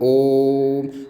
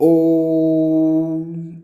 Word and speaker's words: ओम: तो जब हम इनका उच्चारण करते हैं तो खींच कर बोला जाता है। जैसे देखना ओम, अब ऐसे थोड़ा ना बोलते ओम ओम ओम, नहीं, तो ओम इस प्रकार से जब उच्चारण होगा तो उन्हें क्या बोलेंगे हम?